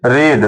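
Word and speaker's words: read: रीड रीड रेड रीड no change in spelling only change in pronunciation उच्चारण में बदलाव होगा स्पेलिंग में बदलाव नहीं होगा तो इ नवेल रीड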